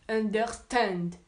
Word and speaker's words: understand: Et pour finir, comprendre que l'on prononce understand. La fin du verbe est accentuée.